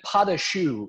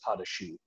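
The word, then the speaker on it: pâte à choux: it happen for us um yeah and then padashu is the actual joe um because you know in culinary world everything's like these base recipes at least in french cooking so the base dough is potashi um which is spelled even weirder i know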